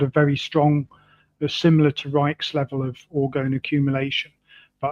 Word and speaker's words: Reich: you pronounce it in the German way it's Reich but the the English tend to pronounce it Reich.